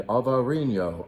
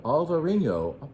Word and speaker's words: Alvarinho: And this particular one is made of Trechadura and Alvarinho. Alvarinho. Jim, you're mispronouncing that.